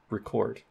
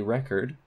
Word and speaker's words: record: they mean different things so a record has stress on the first syllable so record but record is record has stress on the second syllable so you would never